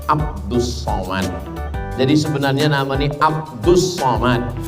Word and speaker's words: Abdus Somad: Somad jadi sebenarnya namanya Abdus Somad tapi kemudian ditulis dengan Abdul Somad banyak jamaah yang kata nama Ustaz ini salah karena saya nama saya tak salah awak yang salah baca tulisannya Abdul Somad tapi membacanya adalah